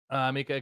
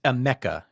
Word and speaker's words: Emeka: Mika Egbuka, game time decision. It's Emeka Egbuka. Maybe to you. Amika.